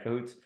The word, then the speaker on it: Cahoots: director at cahoot is is it pronounced cohoots yeah cots okay Cahoots uh where he builds meaning